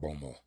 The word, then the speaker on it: Baltimore: Uh they call it Bomo. Baltimore. Bomo. That's how everybody used to pronounce it in the the city.